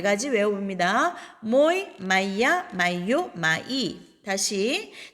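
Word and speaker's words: мой: 모이, 마이야, 마이요, 마이. 다시 자, 여기에서 모이는 오의 강세가 있으니까 오로 발음되죠. 마야, 마요, 마이 됩니다.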